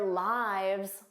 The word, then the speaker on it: lives: So lives, this is the irregular plural noun of life. And notice that pronunciation, lives, their lives were long. But of course, she lives in Canada. Lives is the third person singular of the verb to live. So notice those pronunciation differences.